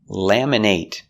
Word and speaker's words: laminate: Laminate is a verb with a long A sound. Laminate. But what if it's not a verb? Laminate. We make the short it sound.